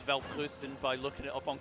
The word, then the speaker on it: Welterusten: Weltrusten. Yes! It's spelled like Welterusten, but Weltrusten.